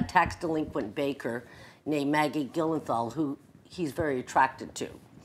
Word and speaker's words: Gyllenhaal: Gyllenhaal, thank you, and Dustin Hoffman.